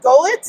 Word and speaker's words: Golicz: I am with John Golicz. Yep. Did I pronounce that You right?